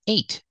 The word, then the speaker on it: ate: it $238 it's 238 the word eight has a long a sound like eat in the present in the past eight it's the same sound as the number eight and we also see